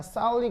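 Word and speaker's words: phthalic: 한국인들에게 더 편한 발음 그리고 세계적으로 더 통용되는 반응은 뭐냐라는 거죠. 알겠죠? 알겠죠? 그래서 하여튼 얘가 사울릭 애시드 알겠죠?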